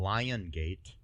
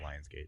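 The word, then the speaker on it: Lionsgate: it was filmed in Marvel and lion gate films not Lion's gate I'm just I'm just saying how they say it um need to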